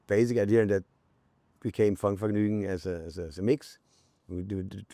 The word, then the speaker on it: Funkvergnügen: Because you recorded like those mixtapes, and correct me if I pronounce it wrong. It's Funkvergnügen. Funkvergnügen, yes.